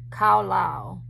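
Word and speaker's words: קָלַל: uh hebrew 7043 in the word is pronounced khao lao khao lao and it means to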